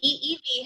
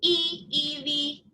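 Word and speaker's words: ʻiʻiwi: their names no way the eevee has many vocalizations but they do literally scream e evie okay so that's groovy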